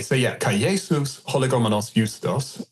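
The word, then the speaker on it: Ἰοῦστος: And this is my Israeli Greek pronunciation. Jesus hologomenos Justos, right?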